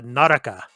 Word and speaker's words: Naraka: In Japanese, it's a Naraka. Yes. Naraka. Blade point.